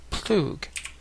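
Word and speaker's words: plugh: ago where he explained he always imagined it being pronounced plug, as in plug.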